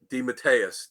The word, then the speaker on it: DeMatteis: interview with an absolute comic book Legend JM Deus did I say it right got it awesome